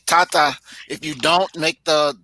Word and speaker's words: tata: Tata Emeka, please. All right. Tata means father, sir, Sister or Mr. Louise, why do you have double A? Because it's important to pronounce the long vowel. So tata.